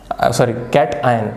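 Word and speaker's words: cation: लक्ष द्या, कार्बन we obtain कार्बन कॅशन, कॅटआयन. हे गुगलसुद्धा केलं नाही तर पोरं लगेच कमेंट करतात, सर कॅशन नाही, कॅटआयन असतं ना, असं तसं.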